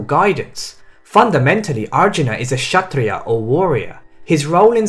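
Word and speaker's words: kshatriya: fundamentally arjuna is a shatria or warrior his role in society is to stop sorry hold on shut three uh okay k was silent i wanna hear i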